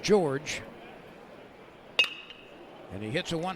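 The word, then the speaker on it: Jorge: it low ball one his first name is spelled j r g e pronounced George and he hits a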